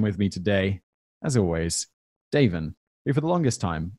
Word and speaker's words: Daven: for the longest time i mispronounce his name in my mind as davon and it took a long time getting used to the fact that your name has a soft a but then everyone else